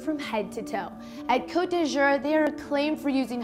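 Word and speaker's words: Côte d'Azur: Did I even say it right? You did. Cote d'Azur. It's coast of blue.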